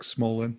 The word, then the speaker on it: Smolan: Rick let's get into Rick how do you pronounce his last name Smallman Smolin Rick Smolan Rick Rick Smolan yep I was really impressed